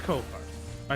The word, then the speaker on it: Ko-Fi: Websites themselves, and that's how it's pronounced. It is Ko-Fi.